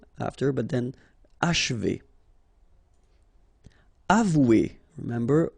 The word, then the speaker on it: achever: Achever, okay? And then if you want to pronounce it the way French people will do, so don't insist too much on this and you will get H, achever, achever.